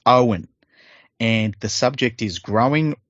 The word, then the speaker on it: Owen: He has written how his name is pronounced because I would have said it the wrong way. So it's Owen.